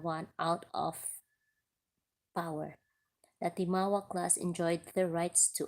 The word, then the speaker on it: timawa: The timawa. The timagwa lagi. Ang pangalan, ang spelling kay Tima, Timagua. Ang pagbasa niya kay Timagwa pero ang pagpronounce kay Timawa.